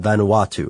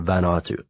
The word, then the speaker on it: Vanuatu: is an island called Tana or Tana in Vanuatu or vanatu and this and this uh Ben watu is